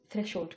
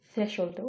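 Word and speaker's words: threshold: শুধু বলতে চাই নেটিভ স্পিকাররা যখন বলবে তখন থ্রেশোল্ড বলবে তো এটা বোঝার জন্য আপনাকে এটা জানতে হবে যে এটা থ্রেশহোল্ডও প্রোনাউন্স করে এবং এটা ডিকশনারি বেসড প্রোনাউন্সিয়েশন থ্রেশহোল্ড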